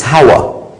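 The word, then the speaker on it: Hawwa: the difference is that the way you say the name of Eve it's howah but big deal it's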